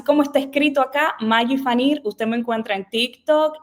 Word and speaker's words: Phaneer: Maggi Fanir, y yo decía Maggi Fanner. Ay, y es Maggi No, Fanir. es Fanir en realidad, pero es que siempre confunden porque hay muchas personas que piensan que se pronuncian así como Fanner.